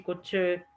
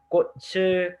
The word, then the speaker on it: 꽃을: 꽃을 꺾으면 안 돼요. So this 치읓 right here is a ch sound. This carries over.